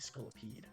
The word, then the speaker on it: Scolipede: Scolipede.